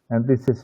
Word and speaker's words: NTSYS: Antisis, Mbak. Bacanya sering itu antisis.